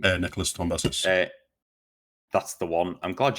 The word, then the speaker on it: Nicholas Tombazis: Nicholas Tombazis. That's the one. I'm glad you pronounced it because I was looking at that before, going, "Who has a name?"